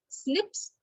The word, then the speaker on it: SNP: in this case and snips or snps it's pronounced as a snip but it's called snp so single nucleotide polymorphism